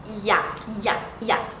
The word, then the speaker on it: ya: Ya. É quase um ya com J e D junto.